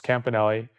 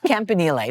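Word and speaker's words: Campanile: a peak, which is Campanelli. You did I say it right? Close enough. Close enough. Campanille, but you know, it's close enough.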